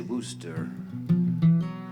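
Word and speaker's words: Worcester: songwriter from wooster uh people like you and me wouldn't know how to pronounce that necessarily but people from the boston area you know how to say wooster mike duffy and they're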